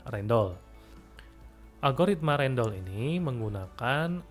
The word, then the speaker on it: Rijndael: ada juga algoritma rendol tulisannya rijndael ya tapi membacanya rendol Hai agoritma rendol ini